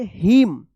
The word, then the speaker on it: hymn: HYMN क्या पढ़ेंगे हिम, हिम्न मत पढ़िएगा या हाइम्न मत पढ़िएगा, क्या पढ़ेंगे इसको हिम्न पढ़ेंगे, यहां पे एन जो है ना साइलेंट रहेगा।